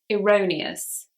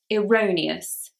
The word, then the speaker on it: erroneous: Number 35, erroneous. Erroneous. And this just means wrong or incorrect. The E here is actually said as an I. Erroneous.